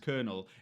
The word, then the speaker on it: colonel: Colonel, being pronounced colonel, is one of those things that makes no sense unless you've seen it before.